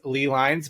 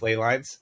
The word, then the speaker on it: ley lines: our Ley lines and some people will pronounce these Lee lines but I will fight you I think it's Ley lines uh just like um